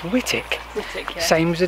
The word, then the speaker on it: Whitwick: It's not Whitwick. it is if you spell it. It looks like Whitwick, but I think Whitwick. It's pronounced Whittick.